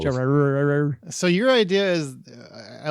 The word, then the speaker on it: Gerard: I have a hard time saying Gerard. Like Jared. It is 2 syllables. Gerard.